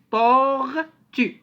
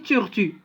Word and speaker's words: tortue: On a donné comme exemple tortue. On n'a pas dit turtu, comme je vous ai dit. La lettre toujours qui précède le O, on l'amplifie un peu. Tortue. Tortue.